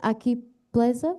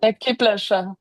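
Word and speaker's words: Akiplėša: Aki pleza? Akiplesha.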